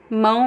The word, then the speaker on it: mão: You could pretend there is the N at the end.